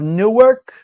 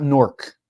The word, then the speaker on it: Newark: midnight the ports of Newark and Bay it is Newark it's not norc it's Newark okay it's not norc it's